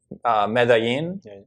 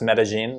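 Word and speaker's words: Medellín: So like when you go to like Medellin, which it's also pronounced Medellin. There's like two ways to say it.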